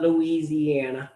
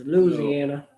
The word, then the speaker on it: Louisiana: in louisiana louisiana yes it's not louisiana it's louisiana louisiana you gotta know how to say it yes you